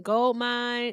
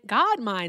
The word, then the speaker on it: Godmine: Um gold mine. Godmine is actually I'm sorry I said your name wrong. It's God mine. I have a gold mine transportation so that's why I saw it as gold.